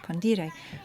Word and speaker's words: condire: Now, there's another word in Latin called condire, with this accent on the second syllable, condire, which means to pickle or to embalm, which is a little bit different.